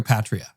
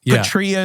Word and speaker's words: Patria: Petria is how you would pronounce it in the Greek originally, which is what we Yeah.